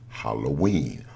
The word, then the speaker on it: Halloween: that day was pronounced Halloween. Why? Because in Latin, Eve is pronounced as een. So All Saints Eve or Hallow Eve would have been pronounced Halloween.